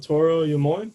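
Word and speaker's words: Toro y Moi: um funding it's um there's Toro you more I believe is how you say it as well as um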